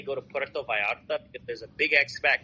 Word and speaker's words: Vallarta: Oh, you mean V or B? Vallarta, like vi in Spanish. The two L's are I.